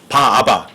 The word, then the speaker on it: 바라바: 바라바, 바아바. 그냥 원래 바라바도 바아바예요. 그리스 말로다가. 근데 연음 법칙에 의해서 여러분과 제가 바라바라고 이렇게 발음을 할 뿐이죠.